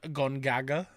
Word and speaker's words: Gongaga: I'm in the Gongaga region.